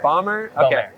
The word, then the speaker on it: Beaumer: do you say your last name bu B bomber B okay I had a ride for the